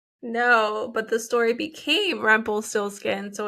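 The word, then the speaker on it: Rumpelstilzchen: No, but the story became Rumpelstiltskin, so it's like Rumpelstiltskin. I don't know. Rumpelforeskin. I'm so sorry. This is why they simplify things for us, okay? Because we can't even pronounce them. Okay, it's Rumpenstiltschen.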